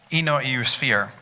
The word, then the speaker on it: EU Sphere: Christina, in your role at EU Sphere, did I pronounce that correctly? Yes, that's correct.